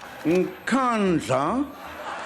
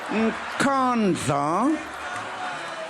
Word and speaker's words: Nkandla: How do you pronounce it? Nkandla. Nkandla. Nkandla.